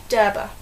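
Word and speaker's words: Djerba: headquarters of the well it's spelled day d g e r b a so you might want to pronounce it J the jba but it's not it's derba and Coastal Resorts outside so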